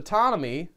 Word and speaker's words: Ptonomy: When he goes to Ptonomy, gotta pronounce that P, he tries to pull it out, and it's huge.